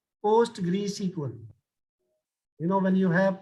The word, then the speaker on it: PostgreSQL: you know post grade sql this is a pronunciation post greece equal you know when you have postgresql you can